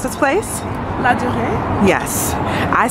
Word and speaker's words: Louvre: Can you please pronounce this place? Louvre?